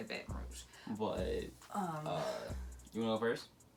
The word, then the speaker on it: Baton Rouge: But it's Baton Rouge. Yeah. How we say it. We say Baton Rouge.